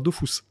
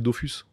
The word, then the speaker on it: Dofus: Bah ouais, parce que ça s'écrit Dofus. Ouais. Donc tout le monde dit Dofus.